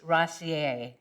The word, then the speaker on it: Rosier: And it's by Denise Rossier. Rossier is spelled Rosier.